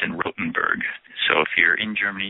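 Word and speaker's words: Rothenburg: called The Torture Museum I think it's in rotenberg so if you're in Germany you're listening in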